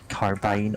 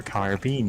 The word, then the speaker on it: carbine: They're both valid pronunciations. They're not even like regional pronunciations. It's not that one of them is British and one of them's American. They're just interchangeably used wherever.